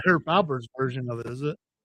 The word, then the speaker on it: Alpert: How'd you spell it? Herb Albert or Herb Albert? It's actually Herb Alpert, by the way.